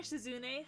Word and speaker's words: Shizune: Hi, I'm pronouncing her name right this time. Hi, Shizune.